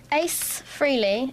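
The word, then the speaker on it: Frehley: Kelly Betts, Ace Freely, is how you say his name.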